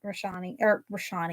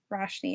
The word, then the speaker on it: Roshni: fireside chat with like Rashani. Yeah, that's not Roshni. Roshni is how you pronounce it.